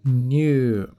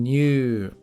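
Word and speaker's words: にゅう: Lembrando que há uma contração da sílaba tornando-se new, que é diferente de ni, que não é o caso aqui. E ainda há um prolongamento do som deste u, ficando new.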